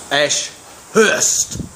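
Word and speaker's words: Ashhurst: Ash-Hurst. Ash-Hurst. That's the proper way to pronounce Ash-Hurst. There's actually 2 H's in it. It's actually Ash-Hurst. You sound constipated. It's not Ash-Hurst. That would have 1 H.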